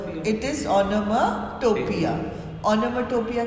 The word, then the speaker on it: onomatopoeia: ओनोमाटोपोइया। पोइया अगर बोलते नहीं है हम, ओनोमाटोपिया बोलते हैं, बट इसकी प्रोनाउंस मतलब स्पेलिंग्स याद करने के लिए पोइया बोलो, POEIA, ठीक है? Otherwise it इज ओनोमाटोपिया।